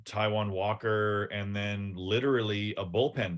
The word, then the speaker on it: Taiwan Walker: Taiwan Walker?